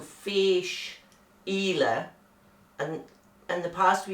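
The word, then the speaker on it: Fèis Ìle: fish ela 2021 and that's fish ela for those of you that wonder how to say it because it's f e i s and the e has got um a graph on it so that means it's an elongated vowel so fish ela and in the past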